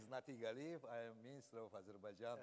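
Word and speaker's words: Natig Aliyev: My name is NatigAliyev. I am Minister of Azerbaijan. Yes. You give us the correct pronunciation.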